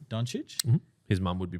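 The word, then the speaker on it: Dončić: Doncic?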